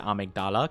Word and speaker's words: amygdala: enemy called the the amygdala. I I pronounce it Amagdala cuz that's how they say in the game and I think it's cool.